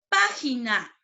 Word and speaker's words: página: Página, la mayor fuerza de voz en pa.